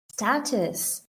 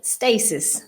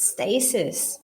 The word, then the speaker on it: stasis: enclosed space somewhere really status no sorry not status that's this status sorry stasis let me pronounce it right stasis um it's kind of